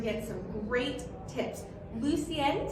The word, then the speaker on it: Lucienne: Lucienne, did I say it right? Yes.